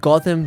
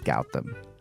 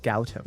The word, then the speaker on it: Gowtham: So today on the show, we've got Gotham. I screwed up. Okay. Can I also quickly? I pronounce it as Gowtham. Gautam. Gowtham.